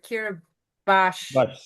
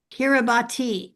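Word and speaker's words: Kiribati: Kira or Kiraabash is spelled K I R I B A T I Yep. Kiraabati. Okay. But it's spelled differently. It's It's spelled that way, but it's pronounced differently.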